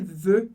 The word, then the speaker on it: veux: E talvez você tenha se perguntado, Felipe, por que esse veux eu pronuncio como e? É parecido com je, eu não falo x do final. O x do final, como regra geral, a gente não lê, assim como S, assim